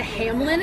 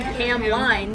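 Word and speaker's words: Hamline: drives me nuts yeah I went to Hamlin and it's spelled ham line so yeah we go to em line University no no Ford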